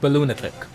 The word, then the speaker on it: Balloonatic: The 1v3 minigames, it is actually pronounced Balloonatic.